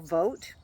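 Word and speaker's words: Vought: this um this is Russell vote that's how I pronounce it vou g HT he's the former director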